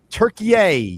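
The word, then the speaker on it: Türkiye: Um Turkeye Turkeye is who the USA is playing today. That's formerly just regular Turkey.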